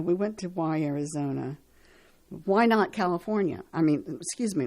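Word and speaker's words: Wynot: decided to call themselves why not there is another located in Lauderdale County Mississippi as well as a tiny village in Cedar County Nebraska though the latter is spelled Wy n o t so there you have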